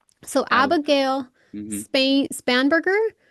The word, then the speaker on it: Spanberger: Spain Spanberger? Spanberger, yeah. She's doing a rebuttal.